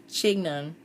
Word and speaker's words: chignon: of the chignon chignon i figured how to pronounce it chignon it's a a ball of hair pretty much